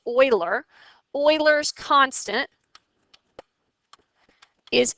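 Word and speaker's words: Euler: his name is Oiler that looks like uler but it's pronounced Oiler oil's constant is e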